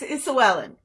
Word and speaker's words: Isoellen: Is it Isoellen? It's Isoellen. Isoellen. Okay, I do apologize. That's Isoellen. okay. It's a completely made-up name, so you can make up how you say it.